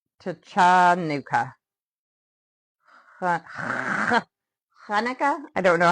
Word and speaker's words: Hanukkah: The Hebrew word is actually pronounced with a guttural kh sound. Kanuka, not tanuka. Hanukkah. I don't know how to pronounce it. I'll say Hanukkah.